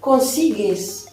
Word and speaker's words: consigues: fait ES, et là je lis bien consigues, d'accord? Puisque le U ne se prononce pas, puisqu'il sert à faire que le G se prononce bien GE. devant un E.